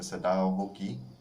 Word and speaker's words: Sadao Hoki: Sadao Hoki. That's how it's pronounced, Sadao Hoki.